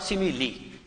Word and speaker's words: simile: इसका प्रोनाउंसिएशन बच्चों सिमिल नहीं होगा, सिमिली। इसका प्रोनाउंसिएशन आपको करना है सिमिली।